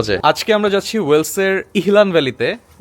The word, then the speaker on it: Elan: আজকে আমরা যাচ্ছি ওয়েলসের ইহলান ভ্যালিতে, মানে বেসিক্যালি বানানটা হচ্ছে ELAN, বাট ওয়েলসের ভাষায় ওরা বলে ইহলান ভ্যালি।